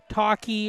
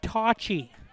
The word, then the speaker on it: Tocci: the Colby Mules, but the way they wrote it out phonetically, it's TAW space CHI. So trying to stretch out Tocci, not Talkie or however anybody else would want to pronounce it, but it's pronounced Tocci.